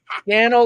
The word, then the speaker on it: Scannell: Scannell like flannel.